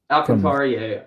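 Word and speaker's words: Alcántara: Sandy Alcantara or whatever. Alcantara, yeah.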